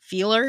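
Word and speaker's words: Fiehler: Because in German, when the I and the E, you always pronounce the second one but like what it looks.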